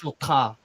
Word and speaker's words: Chotard: Yeah, that's how you say his name in Oh, French. Chotard.